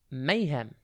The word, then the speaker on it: mayhem: TV today's word is Mayhem it's pronounced May hem and it's spelled m a y h e e m think may as in the month of May and then hem h e m Mayhem